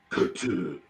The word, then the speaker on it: Cthulhu: First of all, love that you say Cthulhu. Yes. Well, the correct pronunciation is Cthulhu, but whatever. I just say Cthulhu.